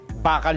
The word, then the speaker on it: bakal: Bakal 'yun. Bakal 'yun. At saka ang bigkas po bakal. Hindi. Hindi yung bakal may pantik sa dulo e.